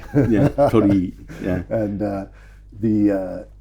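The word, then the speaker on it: torii: I'm not going to mispronounce it again. Tori. Yeah. Tori.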